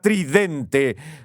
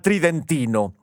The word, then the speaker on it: tridentino: discuten con el término tridentino suena como si se pronunciara tridente pero la pronunciación normal tridentino y cuando vemos las